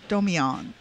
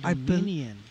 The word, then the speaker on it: Doan: first time on TV that's how you pronounce his name Doan Doan oh I kept saying Doman I believe that's how it's pronounced my bad but he